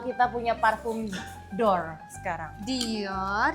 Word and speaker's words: Dior: Dior, jangan Dor. kayak orang kampung dong.